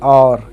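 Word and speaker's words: hour: जैसे एन और, यहाँ पर एच ओ यू आर हावर नहीं पढ़ते हैं, और एच ओ यू आर और एन और।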